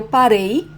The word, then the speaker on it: parei: Eu parei. So past tense is different for the stressed syllable. In the singular persons, like eu, it's the last syllable. Parei. Okay?